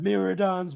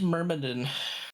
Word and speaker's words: Myrmidon: Miradons will not divide us. Actually, it's pronounced Myrmidon or Which means Myrmidon.